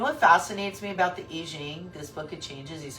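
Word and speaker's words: I Ching: up until then like in when they study Confucious and all that stuff they learned the Eing it's not Eching Eing I think it's pronounced Eing the book of changes it's fascinating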